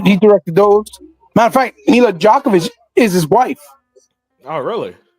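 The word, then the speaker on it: Milla Jovovich: You were trying to pronounce it. Yeah. Her name is Mila Djokovic.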